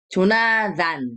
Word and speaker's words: 조나단: 조나단. Gitu ya. Jadi ini aja ya. 드 aja ya. Walaupun TH ya. Tapi bacanya 조나단. Jadi 다, 대아, lalu di bawahnya ada 받침 N gitu ya.